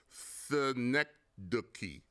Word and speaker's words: synecdoche: It's called synecdoche. Synecdoche, that's how it's pronounced.